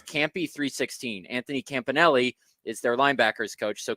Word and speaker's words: Anthony Campanelli: Anthony Campanelli.